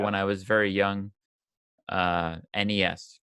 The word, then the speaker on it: NES: I was very young NES correct that is the correct pronunciation and I can say